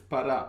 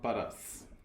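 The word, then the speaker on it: Pará: say sorry for this it's para it's not badass we already start very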